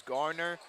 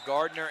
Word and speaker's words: Garner: but not on purpose I know his name is Garner but it sounds like sometimes I'm saying Gardner and I am I I